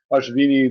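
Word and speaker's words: Ashwini: bought a coin of ashvini the the W is that V critica has an r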